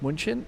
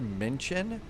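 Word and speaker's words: München: you're down in like Munchin, uh Menchin, I've always been pronouncing the U a little bit too much. It's more mention.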